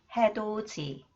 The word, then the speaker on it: 해돋이: When the final consonant 디귿 combines with E, it becomes 지, and the 디귿 combines with he, it becomes 치.